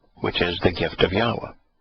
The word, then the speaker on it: Yahweh: The first one was named Yahweh Nathan, which is the gift of Yahweh. And it's Yahweh Nathan, so we get the proper pronunciation of the Wah in Yahweh's name.